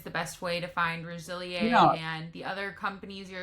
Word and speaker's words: Resiliélle: Well, the top cosmetics company is called Rosilier, and it's Rosilier instead of Rosil because I put an accent mark over it and screwed up the way you pronounce it.